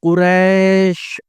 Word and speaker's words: قریش: اللہ الرحمن الرحیم۔ لِإِيلَافِ قریش، لام زیر لی، الف یا زیر ای، لام کھڑا زبر لا، فا زیر فی، لِإِيلَافِ، قاف پیش قو، را یا زبر ری، شین ساکن، قریش، لِإِيلَافِ قریش۔ دوسری آیت